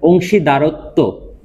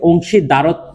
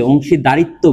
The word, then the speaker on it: অংশীদারত্ব: মনে রাখবেন শব্দটা হচ্ছে অংশীদারত্ব। আমরা অনেক সময় কি বলি? অংশীদারিত্ব বলি। শব্দটা কি হবে? আসলে অংশীদারত্ব।